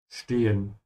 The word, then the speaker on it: stehen: Stehen. And remember to pronounce through the sh because it's an st.